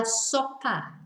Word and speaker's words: sopa: La super it's La sopa but not soap you know so it sounds like soap the way we pronounce it La SOPA but it's